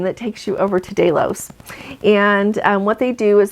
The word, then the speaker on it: Delos: Now Mykonos is an island, and right next to Mykonos there is an island called Delos, D-E-L-O-S. That's how our tour guides there have pronounced that.